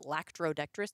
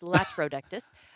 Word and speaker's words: Latrodectus: shows the latrodectus also I've been pronouncing it lactoris there's no C in who cares it's latrodectus uh that shows like